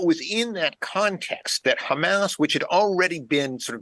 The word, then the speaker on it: Hamas: And the initials in Arabic are pronounced Hamas.